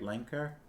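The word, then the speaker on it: Lancre: the forest I think that's how we were pronouncing it before right lenker l-a-n-c-r-e Autumn Mists rolled through the forest so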